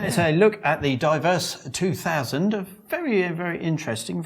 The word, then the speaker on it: Divers: I see you've come around to my way of pronouncing it ADRIAN: Which is what? PHIL: Diverse. A lot of people say Divers but they're all idiots. They're reading it like it's written...